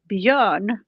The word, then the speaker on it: Björn: I was gonna say because how do you say it in Sweden? In Swedish, the baby's name is Björn. Bjorn. Mm-hmm. Is that correct? Bjorn, and we call it Björn. Bjorn. Yeah. Like baby Bjorn.